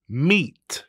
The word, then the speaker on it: meat: อีก 1 ที ค่ะ Meet Meet อย่า ลืม ตัว T ด้วย นะ Meet นะ คะ สะกด ด้วย M E A T Meat นะ คะ ตัว